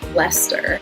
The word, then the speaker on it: Leicester: And then similar to Worcester is Gloucester and Leicester. They both have that CES combination that Wooster does that you kind of just smoosh all together.